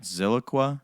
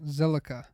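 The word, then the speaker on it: Zilliqa: All right, Ziliqua? No, Zilica.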